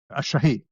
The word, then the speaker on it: shahid: How do you pronounce that word? A shahid.